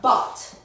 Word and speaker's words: bought: Se pronuncia bought. Bought. So ignore la U, ignore la G, ignore la H. Solo O.